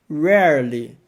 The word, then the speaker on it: rarely: Rarely. Sim, a pronúncia desse é bem complicadinha. Vamos dividir em dois para facilitar. Primeiro, rare, rarely, rarely.